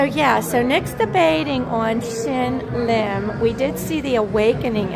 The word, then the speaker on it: Shin Lim: Shin Lim. Shin Lim.